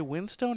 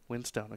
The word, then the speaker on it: Winstone: Ray, is this Ray Winstone or Winston? Winstone.